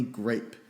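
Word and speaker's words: Greyp: that is the company grape gr e YP but it is pronounced grape like the fruit and if you don't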